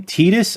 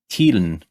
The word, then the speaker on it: Titus: Wait, that's how you pronounce his name? Titus? Oh my god, I've been calling him Tidun. Or, like, no, Tidun for the longest time.